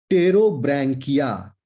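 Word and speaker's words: Pterobranchia: दूसरा टेरोब्रैंकिया, P silent है, PTROBRANCHIA, टेरोब्रैंकिया, ठीक है?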